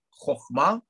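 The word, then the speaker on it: חכמה: И аналогично в слове Хохма, да, хоть там и стоит Камац, который обычно читается как А. Нет, это другой Камац. Это тот Камац, который читается как краткое О.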